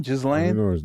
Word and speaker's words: Ghislaine: It's GH. GH. Yeah, the H is silence.